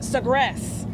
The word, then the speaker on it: Sagres: Okay, the Sagres. Yeah. Is how you pronounce that.